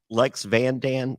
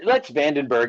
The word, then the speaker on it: Lex van den Berghe: My guest, how do you pronounce? Is this Lex Van Dan? What? Lex Van Dan? Lex Vandenberg.